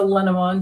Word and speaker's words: Lenormand: yeah there it's a it's a lenamon deck or it looks like in English lenormand if you want to spell it out there's tons of